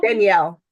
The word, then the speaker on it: Danielle: Never Daniela, is that how you say it? Daniela? Danielle? Danielle.